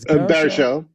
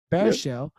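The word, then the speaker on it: Baruchel: uh how do you say jay's last name bear show bear show jay baer show um january jones um uh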